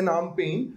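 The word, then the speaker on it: Phnom Penh: Cambodia की capital है नाम पेन, स्पेलिंग इसकी P से चालू होती है ना, P इज साइलेंट, राइट।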